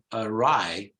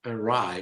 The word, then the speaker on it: awry: in the right position so you pronounce a ride notice a strange all right with it begins with the schwa Rai a rye both in English and American English arrive so you might think it's or Ori no it's not or it's